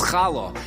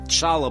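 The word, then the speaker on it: challah: That's the real term is kala. It's a Hebrew term. That's the real term. It's been in the English it's spelled for an American people pronounce it shala but the real term is kala and it's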